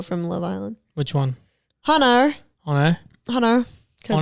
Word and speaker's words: Hannah: name is hannah and that's how we pronounce it here in the states in the states hannah not honor hannah hannah and they say hannah hannah hannah like it's h-a-n-n-a-r hannah i don't wanna i'm